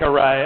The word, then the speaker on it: rray: our our a package like array pronounced like array are a Y which which kind of